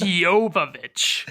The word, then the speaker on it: Jovovich: It's Jovovich.